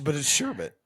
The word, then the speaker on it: sherbet: But it's sherbet.